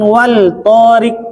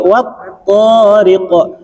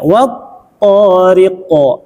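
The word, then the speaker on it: والطارق: Maka cara bacanya bukan wal tariq tapi wat tariq. Nah, karena terangnya sinar matahari menyinari huruf lam sehingga lamnya hilang, tidak terbaca, masuk ke huruf to. Ya, wat tariq.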